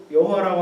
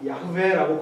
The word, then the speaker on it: 야훼: 사실 이거는 여호와라고 하는 단어는 말도 안 되는 발음이고. 이 YHWH를 사실은 가장 근접하게 발음했을 가능성이 무엇일까라고 학자들이 추정을 해가지고 여기다가 아하고 에를 집어넣은 거예요. 야훼라고 발음했을 가능성이 가장 높다라는 학자들의 재구성이고 학자들의 추정입니다.